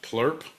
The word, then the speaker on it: PLUR: And I'm sorry because when you when you get deep enough into that culture, I'm sorry, it's actually pronounced plur.